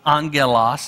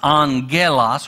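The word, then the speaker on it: angelos: the word for angel on Gillis and that's kind of a hard G instead of angel it's on Gillis or on Gallion and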